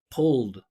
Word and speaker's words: pulled: Pull. You hear the vibration? So, I'm just going to add a D sound. pulled.